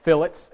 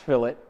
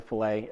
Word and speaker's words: fillet: need to know you will use lots of fillets it is not pronounced filt it is pronounced it is pronounced fillet uh I got fussed at the very first time that I said it was a filet and so I'm going to head everyone off